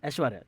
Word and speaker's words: Aishwariya: I just say Aishwariya. Aishwarya, the regular way.